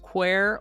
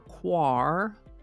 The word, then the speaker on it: quare: today's word is qu can be pronounced quer or quar Miriam Webster says quer